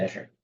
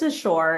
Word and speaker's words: Asher: Yeah, go ahead, Asher. And I apologize. I think I've been saying it wrong. Can you say your first name for me one more time? Yeah, it's Assure. It is spelled like Asher.